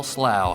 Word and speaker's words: Slough: excited to have FL slow here in the studio oh first question is that the right way to pronounce your name absolutely you said it right all right well I'll